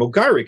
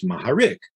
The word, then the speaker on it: Maharik: is really horowitz but they don't say g they'll say h so a person named mugarik is maharik except that in russia